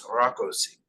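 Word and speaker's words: Rákosi: with the proper Hungarian pronunciation, it's Rakosi.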